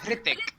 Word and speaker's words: Hrithik: does, It's Hrithik. but it's Hrithik, right? silent. Hrithik. It's a silent H. Oh, I thought it was actually like you pronounce the H.